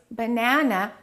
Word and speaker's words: banana: we reduce the rest in this case banana the second syllable is stressed so we would say